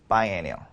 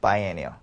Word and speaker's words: biennial: paraphras가 되냐면은, 일단은 보시면, 발음도 좀 많이 중요하겠죠. biannual, biennial. 뭐라고요? biannual, biennial. 뭐라고요? biannual, biennial. 따라서 한번 해보세요. 자, 뭐라고요? biannual, biennial. 좀 차이가 있죠? annual, annual. 이렇게 좀 차이가 있어요.